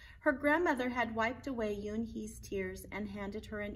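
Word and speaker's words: Unhei: new here what's your name a girl asked yoon hee said yunhee the girl ass crunching up her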